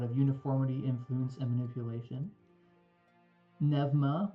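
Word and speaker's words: Pneuma: Nevma, which is spelled P ne, P nema, the god of undeath and necromancy, as well as spirits in the ethereal.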